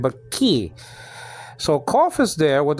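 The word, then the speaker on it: כי: So just say ki. That's all. Especially the yod after it is acting like a vowel. So in those circumstances, it's really E. It's like a long I sound.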